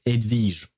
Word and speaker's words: Hedwige: Because in French we pronounce it, it's not written exactly the same way, if I recall correctly, and we pronounce it Edwige.